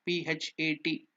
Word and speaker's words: Phat: See, we have given that the mantra P-H-A-T, Phat. The pronunciation exactly. Sanskrit it is written as P and T, half T. So that is Phat, P-H-A-T, Phat. It's not Phat, it is Phat, P-H-A-T, Phat.